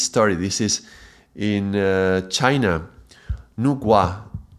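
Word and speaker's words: Nüwa: I think it's pronounced Nugua, but it's written Wa with W.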